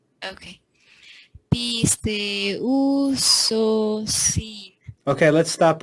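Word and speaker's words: πιστεύσωσιν: So instead of saying pisteusosin, it's Mm-hmm. actually pisteusosin. Oh, Pisteusosin. So you put those together and read it as one syllable.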